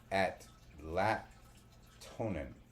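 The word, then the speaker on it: Atlatonan: earth and water goddess now Atlant tonin it's spelled a t l a t o n n at lonin sounds a lot like Atlantean Atlantean but it's the only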